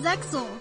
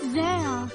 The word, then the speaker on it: Zexal: We're going off air and being replaced with this kid from Zexel. It's pronounced Zale.